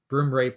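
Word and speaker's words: broomrape: you mentioned uh oh broom rape so broom is in broom and rape is in rape broom rape all one word is the name of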